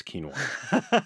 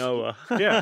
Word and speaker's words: quinoa: For one, if you know how to pronounce quinoa, that's a sign that you're following Doctor's Kitchen. Not most, quinoa. yeah, not quinoa, right?